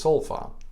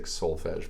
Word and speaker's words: Solfa: So that magical tool in music is Solfa. Some, highfalutin people might say Solfege, but Solfa. And these are the 7 syllables we use.